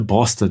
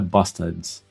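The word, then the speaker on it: Båstad: Eh, em Bostad, na Suécia, e pronúncia é Bostad, né? Não é bastards?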